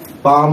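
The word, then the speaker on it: palm: अभी देखिए यहाँ पे पाम है, यहाँ पे स्पेलिंग में PAL और M आ रहा है और हम क्या लिखेंगे? P का स्ट्रोक और उसके साथ क्या? M का स्ट्रोक लगाएंगे। फिर क्या बनेगा? पाम बनेगा। लेकिन हम लोग क्या करेंगे? L नहीं लगाएंगे क्योंकि शॉर्ट हैंड में स्पेलिंग को नहीं देखा जाता। L साइलेंट है यहाँ पे।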